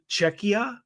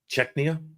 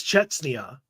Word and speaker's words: Czechia: Jack L lakia uh it's czechia is that how it's pronounced czechia there's no n oh see I thought I thought it was Cheta but there's no okay